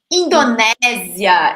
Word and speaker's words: Indonésia: Indonésia in Portuguese. Okay, guys? Indonésia. Just for you to pronounce it.